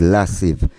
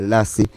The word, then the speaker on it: Lassive: It's Lassive. My name is Lassive, Lasive. Yeah, but some people don't bother get themselves in trouble for pronounce it properly. Them just say Lassie.